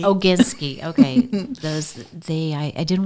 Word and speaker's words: Oginsky: the magazine to life and Anna last name oginski oginski okay those they I didn't want to pronounce it wrong oginski um is the owner